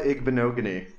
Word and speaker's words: Igbinoghene: Sorry, I butchered that name. Dubs, do you have any suggestion for that one? Noah Igbinoghene.